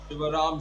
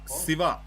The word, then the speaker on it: Siva: Ram mohan Rao and I'll tell you what Ryan in in the Telugu pronunciation we don't have Sh it's it's Siva not Shiva it's SA Krishna it's